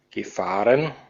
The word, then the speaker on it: gefahren: Entonces, como participio, nos dice que no va a estar la sílaba tónica en la primera, sino que va a estar en la segunda, pero es porque la